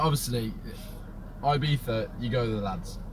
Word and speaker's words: Ibiza: Like, there's a lot of Americans want to try and pronounce like European cities or Barcelona's the worst one, and Ibiza, because it's like in English.